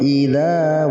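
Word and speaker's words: إِذَا: Idza dibaca panjang 2 harokat.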